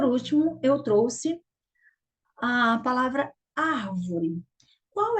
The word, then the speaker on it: árvore: E, por último, eu trouxe a palavra árvore. Qual é a sílaba mais forte da palavra árvore? Vamos lá? Árvore. Então, você percebeu que a sílaba mais forte é o ar.